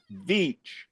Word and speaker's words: Veitch: But I can tell everybody out there, it's Rick Veitch.